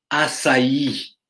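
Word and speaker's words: açaí: couronné d'une volutes blanche son nom se prononce assailli vous pouvez le dire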